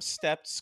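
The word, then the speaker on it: Stept: about Sam stepped himself s-t-e-p-t so it's like step with the teeth it's a little weird to pronounce it but I'm just gonna say step Samuel Howard stepp was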